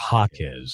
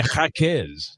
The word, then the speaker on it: Jaquez: Well, Mexico threw a curveball and decided that J was going to be pronounced like ha. That's more of a knuckleball. That is a knuckleball. It's a Charlie Huff special. A Mexican knuckleball. So it's Jaime Jaquez.